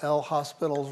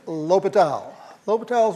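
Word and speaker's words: L'Hôpital: you do you use that famous rule that we all mispronounce when we see it written right we use good L hospitals rule okay it's Lile lal's rule you have to differentiate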